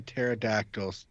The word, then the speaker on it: pterodactyl: can't you hear a pterodactyl go to the bathroom because they're dead because they're dead yeah no because the pee is silent um yeah yeah yeah